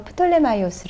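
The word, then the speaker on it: Ptolemy: 톨레미 인데요 우르르 이 톨레미 는 그리스어 씩 발음으로 프톨레마이오스의 라고도 합니다 4 이 fermi 옷은 은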